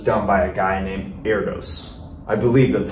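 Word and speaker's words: Erdős: proof which is done by a guy named Erdos I believe that's how you pronounce his name at least e-r-d-o-s where there's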